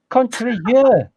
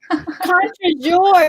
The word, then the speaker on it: contre-jour: Because you're not pronouncing it right. Contre-jeu. Say it again, please. Contre-jeu. That means country day. No. Contre-jour.